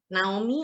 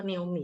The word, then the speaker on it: Naomi: Benar nih manggilnya Naomi ya. Naomi atau Naomi? Secara Indonesia atau secara bule? Halo. Halo. Panggilnya Bener Naomi. kok, Bacanya Kak. bener ya? Bener, Oke. Naomi. Naomi. Oke, Indonesia berarti.